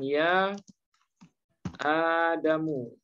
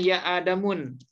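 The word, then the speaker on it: يا آدمُ: Atau misalnya dalam Quran, ya Adamu. Ya, nggak boleh ya Adamun.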